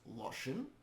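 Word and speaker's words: לשון: There is no written vowel between the lamed and shin, even though there is an o sound in there. And the vav is pronounced as an and not an u.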